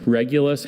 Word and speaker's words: Regulus: Regulus has no alternate pronunciations.